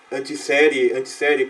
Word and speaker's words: Antiseri: O grande precursor da discussão da alma do homem foi Sócrates, do qual Giovanni Reale e Dario Antiseri, como que pronuncia?